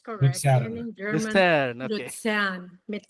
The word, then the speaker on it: Luzern: Luzern, mit Z, mit Z.